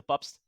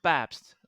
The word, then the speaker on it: Pabst: yeah sure so my name is peter i'm pronouncing it in dutch i'm from the netherlands so peter pops awesome and i'm so americanizing it peter yeah